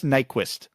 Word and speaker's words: Nyquist: Gus Nyquist. Apparently his last name is not pronounced particularly close to Nyquist. Apparently the Y is a U sound in Swedish.